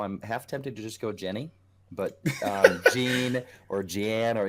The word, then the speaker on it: Jeanne: up so according to if we go with the French pronunciation we're gonna go John John I loaded the game